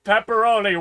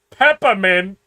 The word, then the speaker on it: pepperoni: As soon as I This is found out pepperoni was not pronounced peppermint, I was asking for it all the time.